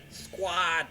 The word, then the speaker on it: Sqwad: This is how Squad is spelled. SQWAD. Squad.